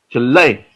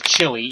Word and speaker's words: Chile: thing here in Canada, they pronounce it as chili, even though it's Chile.